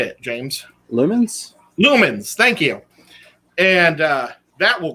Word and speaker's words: lumens: Is it lilums? Lilums? How do you say it, James? Lumens? Lumens.